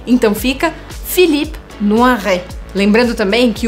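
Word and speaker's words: Philippe Noiret: fala o hm que o t no final a gente não pronuncia então fica filipe no arraiá lembrando também que o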